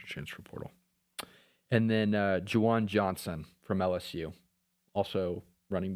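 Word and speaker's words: Ju'Juan: It's ju apostrophe Juan N. Okay. Jawan. Yeah. Jawan. Jujuan. Not Jujuan. How do you say it? Jawan. That's how you say Jawan.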